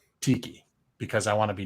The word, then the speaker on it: Takei: And like George Takei, and like Takei, whatever, however you pronounce his name. It's George Takei, Greg. Tiki, because I want to be disrespectful, because he deserves it.